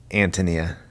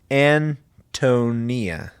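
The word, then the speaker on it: Ántonia: and they were saying Antonia like the English name Anthony in the eye is of course given the sound of long e the name is pronounced and tonyia Anthony Mia Antonia and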